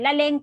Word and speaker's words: Laleng: At saka, ang na-discover ko rin ay Laleng pala ang bigkas ng pangalan ng bida natin.